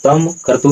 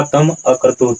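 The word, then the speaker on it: तमक्रतुः: अब यहाँ तम कर्तु नहीं होगा, उच्चारण क्या होगा, तम अकर्तु।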